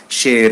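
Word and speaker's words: χαῖρε: monture grecque du coup on le prononce chaire et on peut pas dire qu eje parce que ça remonte pur grecque ouvert un mot facile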